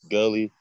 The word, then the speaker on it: Gxlly: um how y'all doing this Gully yeah that's how you say my name I'm pretty sure that y didn't know that I just spelled it with an X to be different and